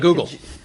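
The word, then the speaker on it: googol: Like a google.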